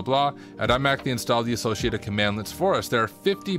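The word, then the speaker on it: cmdlet: also provides access to command links pronounced commandlets which are net classes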